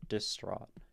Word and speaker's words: distraught: actually feels like but in this case the stress syllable is the second and then the first is unstressed distraught and we can